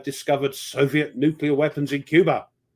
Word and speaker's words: Cuba: Eisenhower, announces that American reconnaissance planes have discovered Soviet nuclear weapons in Cuba. Cuber. Gotta say it right, Cuber. Sorry, what did I say? No, that's how Kennedy said it, Cuber.